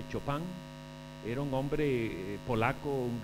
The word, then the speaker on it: Chopin: de era federico y algunos le dicen chopin lo pronuncia tenemos que hecho pan era un hombre polaco